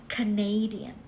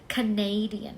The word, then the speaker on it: Canadian: Canada แต่ เวลา ที่ เปลี่ยน เป็น คน ค่ะ เรา จะ เรียก ว่า canadian เน้น ที่ เน้ canadian เห็น ม ลอง ออก